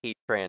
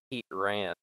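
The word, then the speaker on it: Heatran: need like a Pokemon pronun episode guys it's pronounced heat ran not heat ran okay so um according to the the suspect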